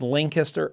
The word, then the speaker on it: Lancaster: It's Lancaster.